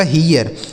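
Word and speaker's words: hear: एच से हो गया हा, यहाँ ई ए का उच्चारण क्या होगा? ईया। क्यों? क्योंकि आर लिखा है बगल में, तो यहाँ हो गया ईया। उसके बाद आर से हो जाएगा र, यह लिखा गया आपका हीयर।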